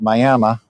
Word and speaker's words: Miami: Weatherford's 222, El Reno 178, and down here Miami, which in Oklahoma it's pronounced Miami, Oklahoma, 81 miles.